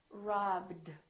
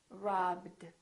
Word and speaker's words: robbed: This one is robbed, robbed. So this one becomes a D.